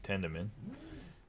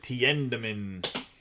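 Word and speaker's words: Tiedemann: We have Pat Gillick, Yoshida, Walter Ford, Flores, Soderstrom, Kai Bush, Sugano, Melendez, and Ricky Tenderman. My bad. Tiendeman. That's how you say his name.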